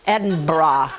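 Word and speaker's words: Edinburgh: prize Baker in in Ed and bra Ed bra see I want to say the Burl it's not Burl or bur it's bra um our great great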